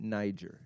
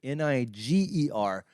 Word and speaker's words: Niger: You may pronounce it Niger if you've seen the map. Niger.